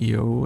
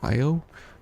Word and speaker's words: Io: on and so forth I know a lot of people say IO um and different pronunciations for her name but because at the very end if you do it perfect right um the main character says EO and so that's kind of how I uh took it from there on out but yes the the